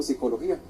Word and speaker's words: psicología: nosotros no la pronunciamos nosotros no pronunciamos la p entonces que mejor como psicología ya no hay que pronunciar la p Entonces se puede inscribirse